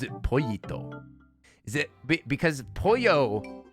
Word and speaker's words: pollo: Is it because pollo? It's pollo, not polo, not polio.